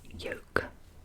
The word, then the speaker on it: yoke: Yolk. Yol. So, it's not the yolk of an egg. It's spelled y o k e.